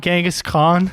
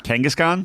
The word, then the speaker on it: Kangaskhan: you pronounce this Pokemon gangas Khan no the Pokemon Kangaskhan Kangaskhan yeah Kangaskhan is